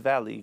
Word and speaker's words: Valle: Este profesor que se llama David Valley, que se escribe David Valle, cuando yo lo escuché, de verdad que se me abrió un telón.